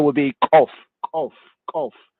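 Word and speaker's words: Koph: This letter properly pronounced is Kof, Kof, Kof, is Kof. Some of them, the Muslims and the Arab speakers, they say Gof, Gof, Gof, Gof.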